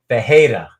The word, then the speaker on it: Ferreira: That's because the Brazilians that's how they pronounce the R, would be like an H. Ferreira.